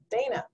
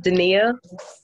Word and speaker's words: Dana: Good morning, Dana. Good morning, good morning. It's pronounced Dania.